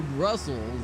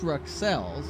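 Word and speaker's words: Bruxelles: Ooh, he eats it on his way down to Brussels. That's it now. Excuse me, that's Ruxelles. Excuse me. Terrible mispronunciation.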